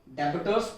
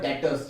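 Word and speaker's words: debtors: डेबिटर्स पढ़ते नहीं है। डेबिटर्स का जो बी होता है वो बन जाता है, हो जाता है साइलेंट, रह जाता है वर्ड डेटर्स। ये डेबिटर्स नहीं कहलाता, ये बन जाता है डेटर्स।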